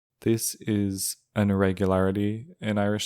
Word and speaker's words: is: It's spelled is, but I'm pronouncing it with a broad S. This is an irregularity in Irish